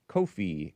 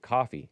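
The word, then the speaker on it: Ko-fi: Even on the great Kofi, kofi. I pronounce it that way. They don't mean for you to pronounce it that way. They they mean for you to pronounce it coffee.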